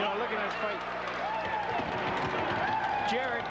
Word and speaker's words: Garrett: Jared Burnett, correct? Yeah. It's spelled G-A-R-R-E-T-T. Why wouldn't it be Garrett?